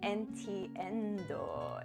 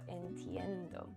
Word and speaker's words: entiendo: Uh, no entendo. Entiendo.